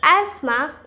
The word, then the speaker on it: asthma: The 10th one is the word asthma or asthma. Asthma in British pronunciation and asthma in American.